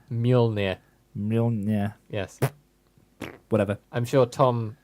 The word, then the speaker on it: Mjolnir: of Thor putting up my flat pack furniture with Molinar, the hammer. That's not even close to how you say it. Molinar. Mjolnir.